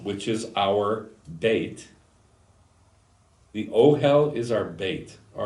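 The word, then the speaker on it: אֹהֶל: Ochel. Oh, hell. Ochel. We know that if the earthly Ochel, which is our bait, the Ohel is our bait.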